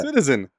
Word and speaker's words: CTZN: I thought you were pronouncing it. No, Citizen. CTZN.